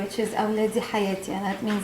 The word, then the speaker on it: awladi hayati: a parent's word that they say, which is awladi hayati, and that means like my kids are my life. Could you spell that?